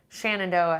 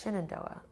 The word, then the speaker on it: Shenandoah: Shannon do it because I hear a lot of HT hikers saying Shannon Doha and I'm like it's Shenandoah but I'm but I'm wondering if like I'm like if locals say Shannon Doha and I'm the one that's saying not properly but it's spelled synodos